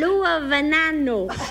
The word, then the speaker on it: Luevano: I want you to pronounce his name for me. Because you're my linguist. Luevano.